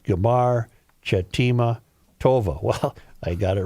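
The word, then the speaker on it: Gmar Chatimah Tovah: Another traditional greeting is Gamar Chatima Tova, pronounced Gamar Chatima Tova.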